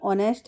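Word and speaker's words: honest: दोबारा से जैसे हमने आवर शब्द देखा था, वर्ड देखा था तो वैसे ही ऑनेस्ट है। यहां पर एच साइलेंट है तो बच जाता है ऑनेस्ट।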